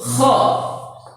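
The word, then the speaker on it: خ: Huruf kha mirip hurufnya dengan huruf jim dan ha, tapi pengucapannya berekho di tenggorokan. Nah, di jakun. Ketika dipatah kha, ketika dikasroh khi, ketika di dhamma khu. Ekho, kha khi khu, akhi, aku. Nggak boleh dibilang aho ahi, nggak boleh.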